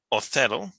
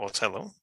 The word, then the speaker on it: Othello: Also, Othello, or Othello, depending which pronunciation you like.